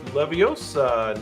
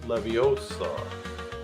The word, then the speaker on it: Leviosa: Her famous line, it's Leviosa, not Leviosa. Yeah, there you go.